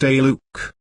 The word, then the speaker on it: Zaluk: The word here is Zaluk, pronounced Aluk.